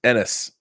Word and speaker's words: Ennis: Ennis is pronounced Ennis. Both said fast.